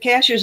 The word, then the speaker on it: Cashiers: Cashers is spelled just like a cashier at the grocery store. And I But still say cashiers. I know it's not, and I but, still Cashers is the way the natives say it, and it's